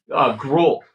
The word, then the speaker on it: Gruel: Is it like Gruel? Gruel, like the porridge.